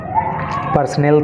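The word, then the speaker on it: personnel: एल यह है पर्सनल थोड़ा सा प्र में भी अंतर है वो है पर्सनल यह है पर्सनल ठीक है इसका मतलब होता है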